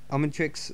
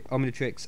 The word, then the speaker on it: Omnitrix: I'm in The Matrix almond tricks okay I'm actually trying to say it properly Omnitrix I don't know what